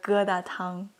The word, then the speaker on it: 疙瘩汤: Or geda tang.